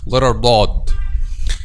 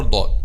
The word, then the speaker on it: ضاد: Actually, we pronounce this, the letter ضاد is somehow different of all other letters we discussed, because it doesn't pronounce from this top part or middle part or back part. But when we pronounce letter ضاد, we are using the side of the tongue or the 2 sides.